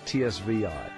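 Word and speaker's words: zwei: The Z in German makes a TS sound like the end of the word cats. So sounds like tsvi.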